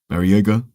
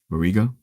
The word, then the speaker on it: Barriga: It's gonna focus on Lars Barriega. Actually forgot how to pronounce his last name. Barriga.